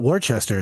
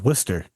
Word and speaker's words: Worcester: It's not Wararchchester, it's Worcester.